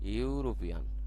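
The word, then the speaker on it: European: দেখো উচ্চারণটা আসছে ইউরোপিয়ান, ঠিক আছে। যেহেতু এখানে উচ্চারণটা আমাদের আসতেছে ইউ, তাহলে অবশ্যই আমাদের এখানে কি প্রয়োগ করতে হবে?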